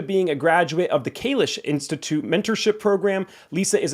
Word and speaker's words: Kish: Is it the Kish Institute or Kish? Uh Kish. Yeah.